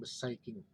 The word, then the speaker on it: beschikking: saikin atau penetapan hiking tulisannya beschikking kita membacanya beside biasanya diartikan dalam bahasa